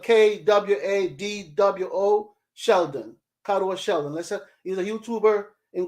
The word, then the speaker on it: Kwadwo: His first name is spelled Kwadwo Sheldon. Kadwa Sheldon.